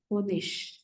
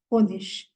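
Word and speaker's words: Honig: a German word for honish h o n g honish whenever IG comes at the end of the word it is pronounced as sh so it will be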